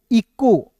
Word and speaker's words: echo: यहाँ पे देखिए ई का ई लिखना है, और देखिए CH का यहाँ पे क के रूप में उच्चारण करना है, ओ से होता है दोस्तों ओ, तो हो जाएगा ECHO, इको।